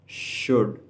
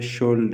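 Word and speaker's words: should: शुड चाहिए. चाहिए. कुछ लोग गलत तलफ़ुज़ करते हैं, वो कहते हैं शुल्ड, लेकिन इसमें एल साइलेंट है.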